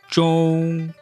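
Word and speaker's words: zhōng: Now, let's practice saying Z-H-O-N-G together in the first tone. That should be pronounced zhong. Again, we're not singing it, we're not holding it out for too long. We're just making sure that it's comfortably high in our natural speaking voice.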